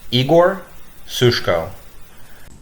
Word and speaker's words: Igor Sushko: hello everyone my name is igor sushko as many of you are gonna hear me speak for the first time please take note that my name is pronounced igor sushko lbc news on your radio on global player